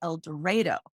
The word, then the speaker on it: El Dorado: it sounds strange in el dorado they actually pronounce it el dorado it took me a long time to get